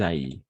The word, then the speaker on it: aillent: Qu'il aille, que nous allions, que vous alliez, qu'ils aillent. ENT à la fin, on ne prononce jamais.